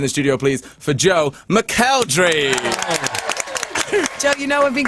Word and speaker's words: McElderry: some noise in the studio please for Joe mcelry don't you know I've been calling you Joe McElderry yeah that is how it's supposed to be pronounced it is but I do I've never